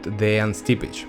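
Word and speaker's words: Dejan Stipić: Right now you are looking at the Real answer whose name is "Proper pronunciation" De(yang) Stip(ich) Yes, Yes, exactly, because among Russians, people called him literally Dejan Stipic for a long time that turned out as wrong As you have seen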